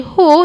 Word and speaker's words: who: who who we have when you say who you only pronounce h and o so pania and who